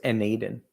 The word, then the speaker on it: n8n: So, it's it's spelled N8 and then N, but it's pronounced Naden.